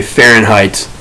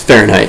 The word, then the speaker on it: Fahrenheit: how to spell it i pronounce it like that so far in height but it's fahrenheit if you pronounce it